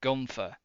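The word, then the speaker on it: Guenther: an e in it he's got an e in his name which is very silent it's g-u-e-n-t-h-e-r but we all pronounce it as Gunther we pronounce it like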